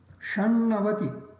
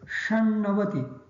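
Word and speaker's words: षण्णवति: The ta of shat becomes na because of the na next to it. So, shan. The na of navati also becomes na because of the previous word shat has sh in it. So, in effect, the word 96, shan navati, as written here, shan navati. Note, this sh also is sh and not sh, shannavati.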